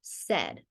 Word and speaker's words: said: word is the word said students can usually identify the beginning and the ending sounds and but the middle sound they hear is a short e therefore students often